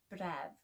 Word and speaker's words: bref: And the second part of hydref is bref, which means call or cry.